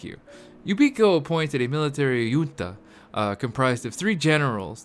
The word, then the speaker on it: junta: right Junta comprised of you never pronounce the J that's the standard I was operating on right right one of